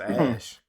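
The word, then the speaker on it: Æ: The AE is pronounced Ash, and the X is just X.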